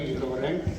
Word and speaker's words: Ngirchoureng: We are Ngirchoureng, pronounced that way, Ngirchoureng, and we play string band music in the style of the 1950s and 1960s from the western island Pacific of Palau.